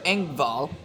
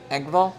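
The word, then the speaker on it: Engvall: I've got that the New York Islanders forward Pierre Angval. Angal.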